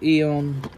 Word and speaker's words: Aeon: I don't care if it's supposed to be pronounced Eon, because if that was the case, there would be no A in front of it. so it's Aeon.